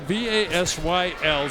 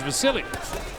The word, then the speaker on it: Vasyl: His name is spelled V-A-S-Y-L, so some people call him Vasyl, but he says, and the people around him say his name is Vasily.